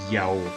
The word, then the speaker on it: Yahu: So whenever you hear of names such as Netanyahu, it really is to be pronounced Yao.